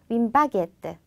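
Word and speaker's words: une baguette: 윈바게트. 윈바게. 윈바게트. 윈바게트. 윈바게트. 윈바게트. 자, 바게트. 우리가 바게트라고 하는 거랑 똑같죠? 그런데 발음만 정확히 바게트라고 해 주시면 됩니다.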